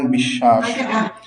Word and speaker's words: বিশ্বাস: উচ্চারণ একবারই হলো হ্যাঁ কিন্তু এই সটাই যখন মাঝের অক্ষরে হয়ে যাবে তখন উচ্চারণ হয়ে যাবে দীপ্ত যেমন বিশ্বাস বুঝেছেন আমরা বুঝলাম না